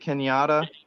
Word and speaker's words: Kenyatta: Is it Kenyatta? Well, is did I pronounce it right? Yes, that's right.